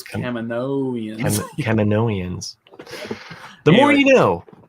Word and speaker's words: Kaminoans: They Kaminoans. Kaminoans. Yeah, what a mouthful. Kaminoans. Yeah, because you switched the vowel sound, I guess, of the A. Yeah. Because I want to say Camino, but then I'm like, no, it's Kaminoans.